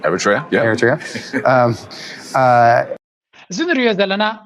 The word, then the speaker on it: Eritrea: Am I pronouncing it right? Eritrea, yeah.